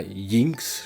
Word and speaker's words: Yinx: Je sais pas si la l'autrice aurait voulu qu'on prononce Jinx. Ça s'écrit J NX. Et moi je sais que dans les langues nordiques, le J se prononce You yeu. Donc je dis Yinx.